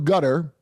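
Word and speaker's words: Qatar: they got money through gutter that's how he's pronounced qar by the way Gutter Gutter and to prevent and I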